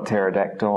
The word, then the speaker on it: pterodactyl: The P becomes silent, as in the dinosaur pteranodon or pterodactyl.